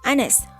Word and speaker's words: honest: Ini karena honest dibacanya honest, huruf awalnya yaitu A atau A, sama kayak an hour, tidak dibaca hour tapi hour.